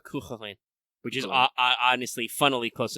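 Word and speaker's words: Cú Chulainn: I remember when I didn't actually know how to pronounce Kukulane. I thought it was like Kukuhalan or something. Yeah, Chuchulin. No, it's Kukulane.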